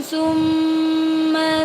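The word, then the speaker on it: ثُمَّ: Kemudian tumma ada mim bertasydid. Cara membacanya dengung ya. Dengung ini namanya ghunna. Ghunna. Sekali lagi. Summa dibaca dengung.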